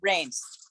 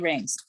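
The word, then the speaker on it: Raines: say it oh I must have been muted rains and it rains how do you spell that r-a-i-n-e-s oh thank you thank you thank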